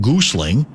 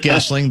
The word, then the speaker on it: Goessling: Or as Gerby calls him, Ben Gling. Uh, but we'll go with Gestling, the proper uh pronunciation.